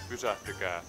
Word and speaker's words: Pysähtykää: Can somebody tell me how you're supposed to really say that? Pysähtykää.